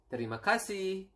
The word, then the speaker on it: terima kasih: It is terima kasih, and then sorry, maaf, and then we have